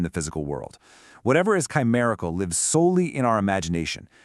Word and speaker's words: chimerical: It's four simple syllables. Ready? One, chi. Two, mer. Three, e. Four, cal. Chimerical. Now, notice that second syllable. That's the anchor of the whole word, and it rhymes perfectly with berry.